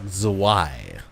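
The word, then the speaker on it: Zwei: a lot better so the Y okay Bismarck zwai I'll remember that this marks away I think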